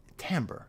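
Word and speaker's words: timbre: tamber timber the tamber what's the word tamber I think tamber it's the French pronunciation of an English of a word that can't be pronounced in English the tone of his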